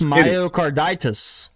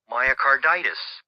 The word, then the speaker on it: myocarditis: in English is pronounced myocarditis it's the same it's the same it's the same suffix as arthritis tell me how you're